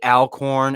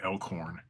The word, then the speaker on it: Alcorn: goes, "Did they say Alcorn?" And I said, "No." I know. People used to pronounce my name Elkhorn. Like, what the fuck? Where you even see that? It's A-L, not E-L-K.